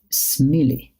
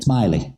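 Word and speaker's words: Smillie: in the actress called Carol smelly am I saying it right smiley Carol smiley smiley smiley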